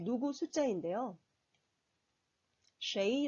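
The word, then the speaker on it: 谁: 4 누구 숫자 인데요 쉐이 라고 발음합니다 셰 2 슈의 이라고도 발음하는 데 보통 쉐 일을 더 많이 사용합니다 역시 의문 대명사 2조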